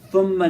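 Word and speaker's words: ثم: So thumma is with the tha and theta.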